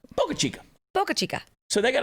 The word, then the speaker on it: Boca Chica: Boca Chica. And most of these towns, I don't even pronounce them right, but it's the way it is. Sounds like Topo Chico, the water. Boca Chica.